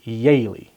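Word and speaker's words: Jehle: j-e-h-l-e but was pronounced yaylee so when they got to the united states and you had a yaylie with a j-e-h-l-e because the j's were pronounced like y's they're like you know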